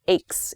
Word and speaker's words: ache: use ache as a verb like my stomach aches is also okay ache sounds like it's continuing now so it's spelled a c h e but the pronunciation